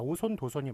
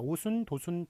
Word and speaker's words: 오손도손: 자, 참고로 오순도순이라고 발음하는 사람이 있는데 그렇게 쓰는 거 틀립니다. 오손도손이 맞아요. 그러니까 깡충 깡충만 이렇게 예외적으로 예, 그렇게 정해놓은 것이지 오손도손은 오손도손이 맞습니다. 오순도순 틀립니다.